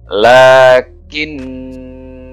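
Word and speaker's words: لكنا: Bapak dibaca panjang satu Alif Oke Mari kita bacanya ini hanya ada surat al-kahfi ayat 38 lekin Nah itu ya lekin Nah itu karo kalau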